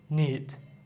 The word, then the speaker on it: knit: নিট, KNIT, নিট, নিট, নিট।